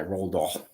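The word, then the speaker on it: Roald: or Charlie in the Chocolate Factory written by rol that's how you say his name rol r o a l d space d a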